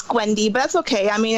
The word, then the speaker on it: Gwnedy: It's Gwnedy, but that's okay.